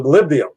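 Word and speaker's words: molybdenum: Well, except for the malibdium. the malibdium. I pronounced it wrong in the first time.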